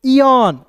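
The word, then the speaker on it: aeon: तो देखिए यहाँ पे ए ई ओ एन, तो क्या पढ़ेंगे दोस्तों, इयन, इयन क्या पढ़ेंगे, थोड़ा सा खींचेंगे, इयन। ए ई है तो इसका उच्चारण बड़ी ई के रूप में करेंगे, ओ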